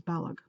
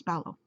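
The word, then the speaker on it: Balogh: And for the longest time, I've been pronouncing it as Balog. But it's Ballow.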